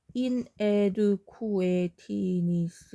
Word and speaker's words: inadequateness: inadequateness 이렇게. 원래 발음 inadequateness 이렇게 해서 quit 트 발음이 거의 안 나거든요.